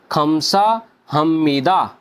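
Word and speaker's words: 감사합니다: की आवाज देंगे दोस्तों तो इसको हम प्रोनाउंस करेंगे खमसा हमीदा खाम सा हम यह हम बन जाएगा जैसा की मैं आपको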